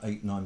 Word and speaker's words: ait: And do you know what an 8 is? No, Ah. tell us. An 8 it's spelled AIT, and it's also spelled EYOT, and it's an island on a river, and it's built up over time.